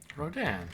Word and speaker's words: Rodin: Pronounce... Rodin, yeah.